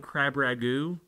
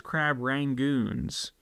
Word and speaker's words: crab rangoons: loved a crab rangon crab Ragu I don't know how you say it I like crab Ragu but if you look it up it's crab rangoons crab rangoons and they'd